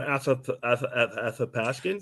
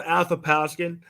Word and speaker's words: Athapaskan: your your name please Nightmare on a aath Askin see I told you Christopher that's how you say it I don't hey he was having problems with it yeah it's Nightmare on aop pasin you know we're in